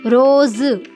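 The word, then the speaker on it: रोज़: तो इसका जो सही उच्चारण है वो क्या होता है बच्चों, रोज।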